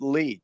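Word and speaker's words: leet: is an internet meme which you can pronounce his lead because if you look at the numerals it kind of looks that way and that was going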